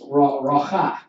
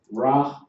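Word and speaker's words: רוח: Now, when you deal with these, it's racha. That's how you would pronounce that. You say these together, racha. And say that separate, all right?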